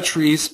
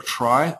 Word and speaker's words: trie: e or kind of tree or try are the two ways to pronounce this and well I'll I'll say try just to keep it